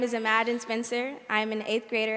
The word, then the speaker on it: Imagine: My name is Imagine Spencer. I'm an 8th grader at Beveridge Middle School, and the title of my short essay is Unimaginable. My name is Imagine Spencer. Imagine, pronounced imagine.